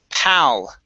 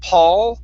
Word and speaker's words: pal: First up, we have the word pal. Okay, so you're very close on the pronunciation. Instead of Paul, it's an ah sound.